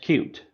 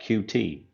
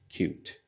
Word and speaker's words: Qt: and cute is pronounced cute it is not QT so if you hear that in a tutorial video or something like that just know that it is actually pronounced cute and then we have